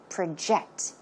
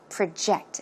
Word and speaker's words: project: Now, in this case, we are not talking about project as in a noun, but it's used as a verb, so how should it be pronounced? Project. Project, okay?